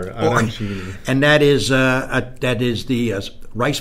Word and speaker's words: arancini: Arancini. There you go. You got to roll the R. Arancini.